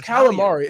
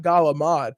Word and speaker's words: calamari: yeah i mean like it's calamari it's not gala mod there's no g and there's no d this doesn't make any